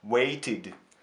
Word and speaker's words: waited: Waited. Заканчивается на t, waited. Окончание читается как id.